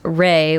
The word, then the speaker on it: Re: Re, pronounced Re while rolling the R, Re, I guess, Re.